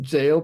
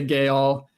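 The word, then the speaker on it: gaol: And uh Gail, I guess this is just pronounced jail possibly. Um, but since it's a Scrabble word, we're phonetically pronouncing it to the dismay of all the uh English majors in chat. I'm just going to say gay all.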